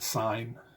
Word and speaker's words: sin: You're going to see this abbreviation, but that's pronounced sine.